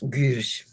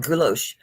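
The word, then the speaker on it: guilloché: It's spelled Guilloch. And when you click on that Google to tell you how to say it, it goes Gush. So it does. It was Gush. I'm like, okay. I used to call it Gulosh.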